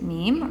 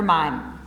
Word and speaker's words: MIME: Is it meme or mime?